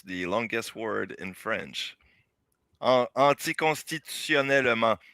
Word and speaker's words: anticonstitutionnellement: Anticonstitutionnellement is pronounced in French, and it's the longest word.